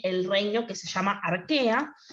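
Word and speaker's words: Archaea: esos familias se llama arquea si se que se escribe a reig área pero no no se arquea y el otro dominio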